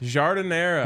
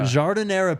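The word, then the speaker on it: giardiniera: what I have no idea what that is jardinera jardinera peppers come on culture you can go buy a whole jar at one of their stores or even on their website let me just tell you so jardinera is like a medley of peppers A Little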